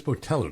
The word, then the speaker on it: Botello: So we are talking to Marla Botello from, it is Botello, did I pronounce that correctly? You said it right, you did.